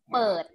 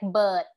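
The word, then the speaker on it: เปิด: is open okay and a lot of time um foreigners in thailand when they're trying to learn to speak thai they would pronounce it like a b so it would be like bird right so um this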